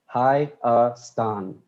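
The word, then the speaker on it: Հայաստան: How do you pronounce it? HAYASTAN.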